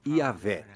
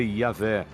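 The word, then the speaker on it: Yahweh: Assim, seu título era Deus, e seu nome eram essas 4 letras, YHWH, que provavelmente eram pronunciadas Yahvé.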